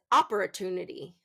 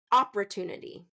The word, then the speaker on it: opportunity: Some people are will will pronounce it as opportunity. Opportunity and stress that first syllable and I don't want that to happen. So third syllable stress opportunity opportunity. Opportunity. Kind of do you hear how that first part of the word is reduced?